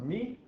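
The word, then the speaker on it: μ: It's the Greek letter mu, Greek letter M. Although I've been told by the Greeks in town that it's pronounced me, but all my research online says that all the scientists call it mu, so I don't know who to believe.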